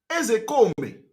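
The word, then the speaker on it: Ozekhome: When I want to pronounce, I pronounce it the way Igbo people are pronouncing it.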